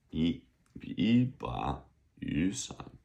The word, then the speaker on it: 一把雨伞: So the first one would change to a second. 一把雨伞. So second, third is the way it's pronounced. Although when you write it, you just write it third.